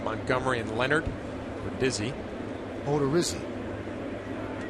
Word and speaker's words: Odorizzi: Myers, Ordazzi, Montgomery, and Leonard, or Dizzy. Odorizzi. So I butchered it twice, huh?